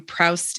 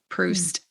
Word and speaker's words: Proust: But I really loved Proust and the Squid. Proust.